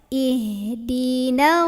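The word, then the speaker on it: اهدنا: aja Ih ihdinasi na Jangan dibaca panjang mentang-mentang ada Alif Kalau pendek Kalau berhenti Iya panjang kalau lanjut langsung eh apa tekan ke Shad ihdin ihdin th misal Jangan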